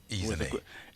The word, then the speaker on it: Ezinne: Ezinne. Emphasis on the E.